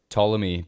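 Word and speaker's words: Ptolemy: simple set of spheres tmy by the way is spelled with a p at the beginning p t o l m y this guy was more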